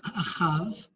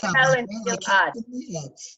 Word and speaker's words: Ahab: In Hebrew, it's Achav. Ahab. We should say Ahab.